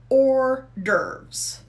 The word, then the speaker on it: hors d'oeuvres: to eat um and did you hear that the pronunciation or dervs that's that's the way i say it i checked with the dictionary that's the way the dictionary says hors d'oeuvre okay let's look at